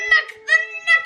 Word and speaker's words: NUC: Spelled N-U-C, nut from it. The nut spelled N-U-C, nut from Intel.